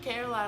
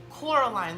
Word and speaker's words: Coraline: and then they're like oh sweet caroline I'm like no Coraline like the movie coraline yeah so that's always